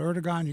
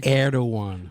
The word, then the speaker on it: Erdogan: They are no friend of the state of Israel under the current leadership of, I always mispronounce the name, and Eric always corrects me. I call it Erdogan. Erdogan.